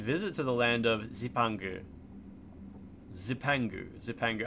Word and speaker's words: Zipangu: to the land of Zepangu. Zepangu. Zepangu. I guess it's not a a Japanese word. So you don't have to call it like you don't have to pronounce it Japanese style. It's like zipangu.